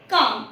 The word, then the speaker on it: calm: Just like CALM काम, इसे काम नहीं पढ़ते हम।